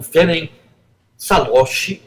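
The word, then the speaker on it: Ferenc Szálasi: blindagem dos judeus húngaros enquanto governou o próprio feren salos é assim se pronuncia vocês podem vê-lo aí na no slide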